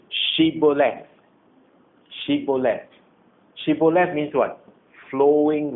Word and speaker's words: Shibboleth: If he says no, then they would say to him, then say, Shibboleth.